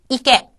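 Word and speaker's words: いけ: 자, 그 다음에 나와 있는 것은 이깨. 여기서도 깨라고 하는 것은 초등이 아니기 때문에 깨에 가깝게 발음을 하시는 것이 자연스럽습니다.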